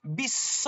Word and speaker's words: বিশ্ব: ভালো করে মার্ক করুন বিশ্ব আমি কি বলি ব নিশ্চয়ই বলি না বিশ্ব ভারতী দ্বিতীয় দ